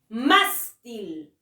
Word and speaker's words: mástil: no debo de tildar mástil más y de la mayor fuerza de voz terminen en ese o